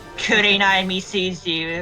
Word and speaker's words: Kurenai Misuzu: Kurenai Misuzu, if you want to technically pronounce it in Japanese. It's an alternate reading of her name.